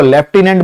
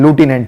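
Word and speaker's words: lieutenant: बात करें वेतन की, तो जब आप 12th में इसमें सेलेक्ट होंगे तो आपकी पहली पोस्ट, कुछ लोग इसको लेफ्टिनेंट बोलते हैं, कुछ ल्यूटिनेंट बोलते हैं, करेक्ट प्रोनाउंसिएशन लूटिनेंट है।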